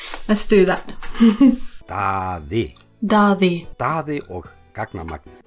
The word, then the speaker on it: Daddy og Gagnamagnið: Oh, I should probably learn to pronounce that before I start. So, let's do that. Daddy. Daddy. Daddy og gagnamagnið. Daddy og gagnamagnið.